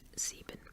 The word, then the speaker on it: sieben: One thing is, I feel like in English, if you had an I-E in a word, it would be pronounced kind of like I, but in German it's pronounced like E because the letter I is pronounced E.